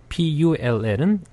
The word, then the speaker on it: pull: P-U-L-L은 으 발음.